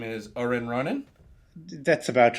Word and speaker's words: Orenronen: Rona 2 um let me know if I pronounce this right your name is Orin Ronin that's about right yeah and I don't think